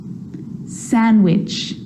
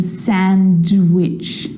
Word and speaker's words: sandwich: too Wednesday handsome sandwich so I'm not pronouncing the D in sandwich I'm just pronouncing the consonant n sound before try it with me one more time Wednesday handsome sandwich and a day